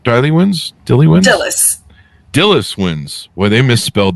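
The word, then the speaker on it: Dilys: RT reviewers Choice Awards and the Agatha two Dilly wins do I have that pronounce right Dy wins Dilly wins Dillis Dillis wins well they misspelled that it's d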